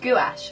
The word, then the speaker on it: gouache: How do you pronounce it? Gouache.